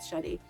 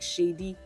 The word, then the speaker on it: Sade: Dotun was great, but his pronunciation of Sade wasn't. He performed at Adekunle Gold Sade. He was good. Great voice. At least he had little emotions. But the way he was performing Sade like shady, and then eventually he ended up calling Shay.